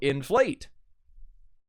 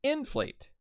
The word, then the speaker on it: inflate: that are two syllables so inflate makes it the stress is on plate instead of in because then it would sound like inflate which I suppose you